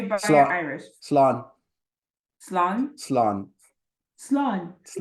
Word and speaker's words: Slán: Slán.